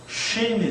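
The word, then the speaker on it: שׁין: 그 다음에 점을 오른쪽으로 옮기면요. shin이 됩니다. C하고 she하고는 다르죠.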